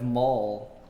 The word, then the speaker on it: Moll: up yeah yeah with mall so um Olo but pronounced like a shopping mall yeah yeah and then